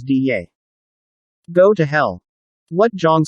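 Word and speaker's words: 袋: Butterfly to Hu Dai, ultimatum to Tong Dai, spy to Jian Dai, UFO, flying saucer, to Fei Dai, Dai is pronounced as Diye.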